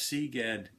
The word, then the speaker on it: CGAD: sea bass tunings plus C GAD rhymes with egads which is probably what